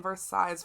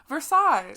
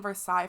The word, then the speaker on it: Versailles: was did you just you just pronounce the s in versailles should we pause go back did i wake up versailles just go back xavier